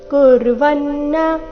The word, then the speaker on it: ಕುರ್ವನ್ನ: ದೇಹಿ ನೈವ ಕುರ್ವನ್ನ ಕಾರಯನ್ ನೈವ ಕುರ್ವನ್ನ ನ ಕ್ಕೆ ಒತ್ತು ಕುರ್ವನ್ನ ಕಾರಯನ್ ನೋಡೋಣ ಪೂರ್ತಿ ಶ್ಲೋಕ